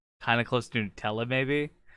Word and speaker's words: Nutella: Are you saying that's better than Nutella? What? Did you just say Nutella? Nutella. Yeah. Did you say Nutella? That's how they pronounce it over there.